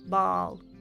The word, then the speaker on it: ball: And the word ball, the round thing, it's just one sound. Ball, ball. Ball. Bowl. Sounds very close, I know. But there is a tiny difference that you can hear if you train your pronunciation. Ball versus bowl. Ball versus bowl. In American English, I feel like the difference is bigger.